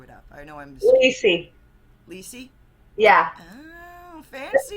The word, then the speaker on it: Leisy: I know I'm Lacey.